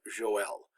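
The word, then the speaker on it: Joël: And then the Hebrew prophet Joel also has 2 dots over the trema to indicate that it's pronounced 2 syllables Joel.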